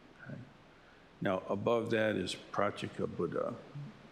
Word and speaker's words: Pratyeka: Now, above that is Pratyeka Buddha, P-R-A-T-Y-E-K-A.